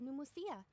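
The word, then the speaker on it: Pneuma: type of energy called numia numia oh it's a silent P it isn't produced by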